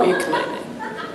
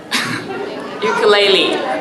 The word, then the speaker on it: ukulele: So I was gonna ask you about the ukulele, but is that how you pronounce the word? Toilet? No, ukulele. Ukulele.